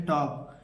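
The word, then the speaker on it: talk: के से पहले देखिए के से पहले एल आया है एल को पढ़ेंगे कभी नहीं पढ़ेंगे इसे पढ़ेंगे टॉक टॉक यहां पर हमने देखिए एल लिखा है ना एल को नहीं पढ़ना है हमें यहां पर एल को नहीं पढ़ना है मैंने जानबूझ के लिखा है ताकि बच्चे बहुत सारे गलती करते हैं इसे टाल को पढ़ते हैं इसे वाल्क पढ़ते हैं इसे चालक पढ़ते हैं हमें ये गलती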